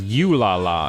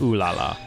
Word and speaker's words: Ooh La La: He pronounced it as You La La instead of Ooh La La.